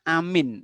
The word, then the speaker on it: amin: Nah, sunnahnya baca amin. Amin itu panjang ya. A-nya panjang, min-nya panjang. Amin. A-nya 2 harokat, min-nya bisa sampai 6 harokat.